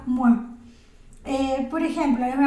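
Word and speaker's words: moi: palabra mua O sea la palabra m o y a es me la se dice mua O sea que sería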